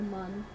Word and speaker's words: Mun: Or the mun.